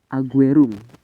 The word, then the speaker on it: Ajurrum: suatu kabilah yang dinamai Bani ajurum ini kalau kata guru kami adalah aguerom cara melihat Aguero seperti ini memang membacanya agak susah-susah ya karena ghorib ini bukan dari Arab Jadi mungkin Terkadang ada yang salah membacanya kami Kemudian yang kedua